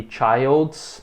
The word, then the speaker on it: child: E preste atenção também na pronúncia, né, que no singular tem o som de I, child. E no plural tem o som de chi, children.